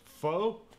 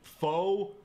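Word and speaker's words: phở: as pot of foe the Vietnamese eventually shortened it to just faux meaning people like me who go around calling it foe are in fact objectively pronouncing It Wrong by any standard have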